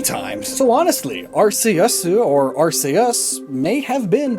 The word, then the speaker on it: Arceus: director at the time, the dub chose to pronounce Arceus with a hard C instead of a soft C due to concerns over the name sounding like arse, which is British English for ass.